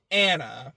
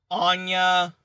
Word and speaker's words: Anna: It's been years since I saw the first movie, but I am saying Anya, like the character from Spy Family, and I'm saying Anna, but it's pronounced Anya.